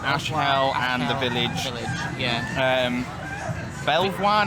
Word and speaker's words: Belvoir: Belvoir next, or Beaver, if that's how you pronounce it.